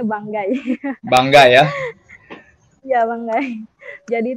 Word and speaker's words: Banggai: Bukan Banggai ya, bacanya Banggai.